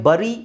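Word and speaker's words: bury: ಬಿ ಯು ಆರ್ ವೈ ಬರಿ ಅಂತ ಹೇಳ್ತಾರೆ ಬರಿ ಬಿ ಯು ಆಕ್ಚುವಲಿ ಅದು ಬರಿ ಅಲ್ಲ ಸರಿಯಾದ ಆಕ್ಚುವಲ್ ಪ್ರೊನೌನ್ಸಿಯೇಷನ್ ಬರಿ ಅಲ್ಲ ಬಟ್ ನಮ್ಮ ಇಂಡಿಯಾದಲ್ಲಿ ತುಂಬಾ ಜನ 90% 95% ಬರಿ ಅಂತಾನೆ ಹೇಳೋದು ಬಟ್ ಆಕ್ಚುವಲಿ ಅದರ ಉಚ್ಚಾರಣೆ ಬಂದು ಬೆರಿ ಡಿಕ್ಷನರಿಯಲ್ಲಿ ನಿಮಗೆ ಬೆರಿ ಅಂತಾನೆ ಸಿಗುತ್ತೆ ಬೆರಿ ಓಕೆ ಫಾರಿನರ್ಸ್ ಅವರೆಲ್ಲ ಮಾತಾಡೋದು ಬೆರಿ ಅಂತಾನೆ ಓಕೆ ನೆಕ್ಸ್ಟ್ ನೋಡಿ ಈ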